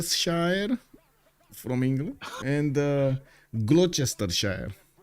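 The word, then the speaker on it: Gloucestershire: names here Worchester Shire from England and uh glester Shire gluster it's actually that one I know pronounced I see they decided to add 15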